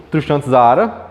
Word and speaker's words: Tristan Tzara: principal criador tem uma imagem aqui do moço tristan tzara é a pronúncia tá bom sobre características do dadaísmo quais